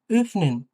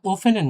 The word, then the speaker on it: öffnen: কিছুটা এর মতো উচ্চারণ হবে মেডসিন। ওকে? হ্যাঁ, মেডসিন মানে মেয়েটি। আর এটা হচ্ছে ও umlaut দিয়ে হ্যাঁ, öffnen, öffnen। এটা ওফেনেন না, öffnen, öffnen, হ্যাঁ, öffnen, öffnen।